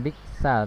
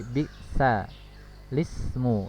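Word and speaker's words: بئس الاسم: Lam tadinya sukun, dikasih harokat kasroh miliknya si hamzah yang tadi ya, sehingga bukan biksal tapi biksa lismu ya, biksa lismu membacanya ya, bukan biksal ismu tapi biksa lismu.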